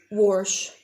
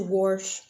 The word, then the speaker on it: wash: out of a lot of words I say warsh we're going to wash aunt or Aunt is it ant or is